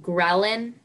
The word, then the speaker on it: ghrelin: Ghrelin?